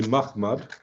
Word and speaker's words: Muhammad: Is it pronounced that way or Mahmad? Because the last day you mentioned that the early reference would be in the Mahmad. earlier period, it's certainly Mahmad.